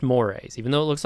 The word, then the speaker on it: mores: out i want to point out that word it's spelled m-o-r-e-s right that's pronounced mores how i don't know because if you put